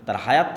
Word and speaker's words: তোরাহ: তোরাহ বলে ইহুদিরা উচ্চারণ করে যে তোরা যখন তাওরাত দেওয়া হলো।